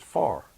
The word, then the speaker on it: fire: Fire, F-I-R-E, is far.